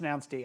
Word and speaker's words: announced: on froot um called announced d. Um, yes like so many services that looks like the English word announce like the past tense of announce but it's it's pronounced announced d.